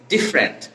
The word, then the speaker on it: different: এখানে 3টা সিলেবাল থেকে আমাদের 2টা সিলেবালে ভাগ করতে হবে। 2টা সিলেবাল হচ্ছে কি, আমরা ডিফার, এখানে ইটাকে আমরা বাদ দিয়ে যদি দেই তাহলে কি উচ্চারণ হয়? ডিফারেন্ট। উচ্চারণটা হচ্ছে কি ডিফারেন্ট।